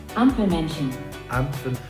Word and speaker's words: Ampelmännchen: Ampelmännchen.